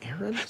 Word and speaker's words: Aeron: was supposed to be a Aeron pronounced Aaron the Bible also has